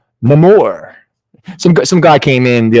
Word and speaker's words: Namor: All right, so next up, for anyone who is interested in some Namor books, Namor the Submariner, or should I say Namor?